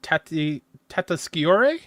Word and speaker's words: Tatasciore: Sorry, how do you pronounce their name, please? I think I said it. Fred Tatasciore.